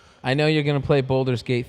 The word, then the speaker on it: Baldur: I know you're gonna play Baldur's Gate 3 Yeah, I gotta. Why I do you want to. say it that way? because that's all he talks about. No, boulders. It's Baldur.